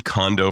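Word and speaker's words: Kondo: Marie Condo for those of you who are not Japanophiles like me I lived in Japan so I must pronounce her name properly.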